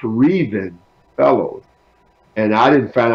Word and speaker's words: Revin: to wait to care for fastest but it's pronounced reason fellows and I didn't find out until I